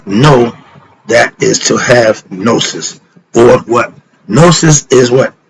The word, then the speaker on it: gnosis: go that is to have nosis it's spelled g n o s i s the G is solid I'm with cat why